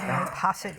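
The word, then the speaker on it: posset: recipe is British uh poset is pronounced like pocket but with an s poset is found with cooking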